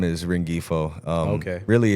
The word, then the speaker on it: Rengifo: So my last name is Rengifo. Okay. Really, it's supposed to be pronounced Rengifo, but I've just always been called Rengifo.